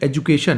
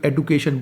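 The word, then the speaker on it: education: करते हैं, सही जैसे एजुकेशन है तो कोई एडुकेशन बोलते हैं, कुछ लोग एजुकेशन बोलते हैं, दोनों का प्रोनाउंसिएशन सेम है। अगर आप एजुकेशन बोल रहे हैं तो भी आप गलत नहीं है, आप एडुकेशन बोल रहे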